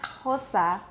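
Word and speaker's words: Xhosa: click and that's why kosa is pronounced with the lateral click plus aspiration so i want you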